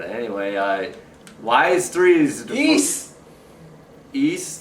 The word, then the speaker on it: Ys: the game looks like wise it's actually pronounced East like Easter please not counting the